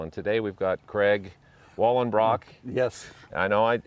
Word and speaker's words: Wallenbrock: was play baseball and today we've got craig wallen brock yes i know i pronounce that name right good and listen i